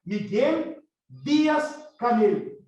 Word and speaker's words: Díaz-Canel: professor universitário Miguel Díaz-Canel, ou como se fala em espanhol, né, Miguel Díaz-Canel, certo?